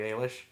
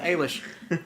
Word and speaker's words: Eilish: Ailish I believe is how you pronounce the last name it's AI Li SH but the Google home tells me that that's Billy aylesh not Eilish so I'm gonna go with a leash and she's 16 no